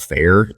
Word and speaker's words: Faire: We stumbled onto an online kind of channel called Fair. It's spelled Faire.